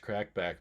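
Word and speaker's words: Kracc Bacc: guys try to smoke it's spelled crack back oh man if I can get enough people to watch crack back maybe he will put me in a video or something but it's spelled k-r-a-c-c space b-a-c-c he makes a lot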